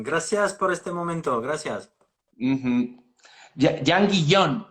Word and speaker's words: Jean Guillaume: Jan Guillón, se pronuncia así.